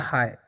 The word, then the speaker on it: hi: देखिए एज का उच्चारण होता है ह तो ह लिख देंगे और आई नहीं होता है इसका उच्चारण। इस हम कितना बार बता चुके हैं इसका उच्चारण होता है आय तो इसे हम पढ़ते हैं आय तो हो गया हाय।